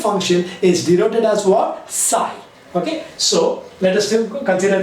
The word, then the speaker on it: psi: do you pronounce it you have to pronounce it as what psi that is p is what silent right so let us